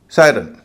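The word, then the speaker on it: siren: इसी तरह pirate, direct या डायरेक्ट, सायरन।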